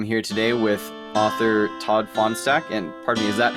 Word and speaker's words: Fahnestock: Actually, you're really, really close. It's Fahnestock technically, but I'll go with Fahnestock over Fahnestock or Fahnestock or some of the others that I get.